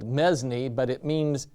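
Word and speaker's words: mesne: it looks like it's spelled mesme but it means it's pronounced mean and it means intermediate assignment so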